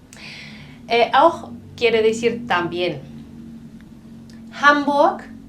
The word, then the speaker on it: Hamburg: Au quiere decir también hambur la H es aspirada es una ciudad en